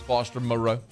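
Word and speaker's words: Moreau: is mentioned and that's foster morrow oh god i did it foster morrow i slipped into the trap did you did you go more i did fall he had his name just pronounced last night too and to catch for ten yards foster moreo how about tyron johnson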